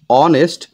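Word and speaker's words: honest: বসে যেমন উদাহরণ হিসেবে অনেস্ট লেখা আছে হনেস্ট আমরা কিন্তু এইচ এর উচ্চারণটা করি না আমরা ও থেকে উচ্চারণ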